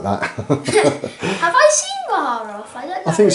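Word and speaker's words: Baharroth: Swooping Hawks I'm going to paint up for you as well, because we've got, how do you pronounce it? Baharoth? Yeah. Baharoth.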